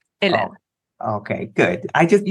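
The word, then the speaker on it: Hélène: Okay, so the French way to say my name is Helene. And the way to remember about it is like the letter L and the letter N. Helene.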